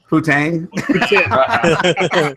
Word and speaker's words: poutine: Poutine. Poutine. A poutine burger. Think of the Tin Man. It's poutine. Oh, that's Poutine.